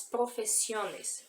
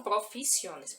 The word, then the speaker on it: profesiones: No espanhol nós pronunciamos las profesiones, profesiones, tá? Não profissiones, professiones.